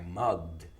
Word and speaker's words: mugged: yesterday I mocked mugged remember this ending i mugged it's one syllable i mugged yesterday and